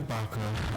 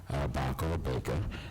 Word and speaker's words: Baca: She's Susanna Baca, and some pronounce it Baker, was a recording artist